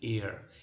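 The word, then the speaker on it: heir: universal press আপনারা হচ্ছেন এয়ার এইচ আই আর উচ্চারণ হচ্ছে এয়ার মানে আপনারা হচ্ছে উত্তরাধিকারী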